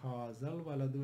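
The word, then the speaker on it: هَذَا الْوَلَدُ: And because this is hamzatul wasl, it will not be pronounced, it will become hazal waladu. It will remain there in writing, but it is not going to be pronounced.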